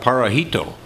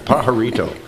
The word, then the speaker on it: Pajarito: eclectic culinary concepts DBA para hito Pajarito excuse me you but you'll get to help you with the pronunciation aha retail AHA Rito I was closer to the first time Pajarito yeah Thank You mayor